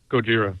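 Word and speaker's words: ゴジラ: in the studio today how do you say godzilla in japanese chat room gojira right chat room says gojira yeah a guy named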